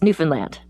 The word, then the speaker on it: Newfoundland: As a Canadian, as a Canadian, I need to say it's Newfoundland.